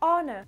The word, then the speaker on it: honor: ça peut vous aider, mais le H ne se prononce pas. Pour l'accentuation ça se fait aussi comme sur les autres mots sur la première syllabe, donc c'est le O qui va être mis en avant dans le mot honor.